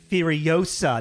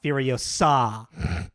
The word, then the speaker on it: Furiosa: It's pronounced Furiosa, not Furiosa.